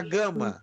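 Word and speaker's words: γάμμα: Essa é a gama. Tem o som de G.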